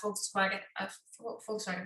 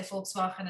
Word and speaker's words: Volkswagen: The thing is, my car was, I was sponsored by Volkswagen, that's how you say it, because we say Volkswagen in Afrikaans. I've only been speaking English for 9 years. Volkswagen.